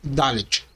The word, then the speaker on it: Dalet: Podemos encontrar em outras fontes seu nome como sendo Dalet. Contudo, a pronúncia correta é Dalet.